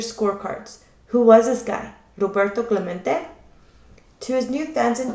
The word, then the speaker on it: Roberto Clemente: heard the announcer stumble through his Spanish name, Robert, Clemente. It echoed in the nearby stands, near empty stands. Roberto Clemente was his name, and this is pronounced Roberto Clemente.